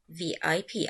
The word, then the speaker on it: VIP: But the acronym is pronounced as VIP as letters.